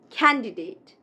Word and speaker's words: candidate: This one is again a very commonly mispronounced word. It is not candidate, but candidate. Candidate.